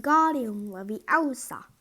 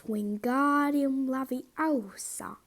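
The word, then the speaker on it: Wingardium Leviosa: much more luck when guardian levy elsa he shouted waving his long arms like a windmill you're saying it wrong having her turmeric it's wingardium lovely elsa make the girl nice and long you do it then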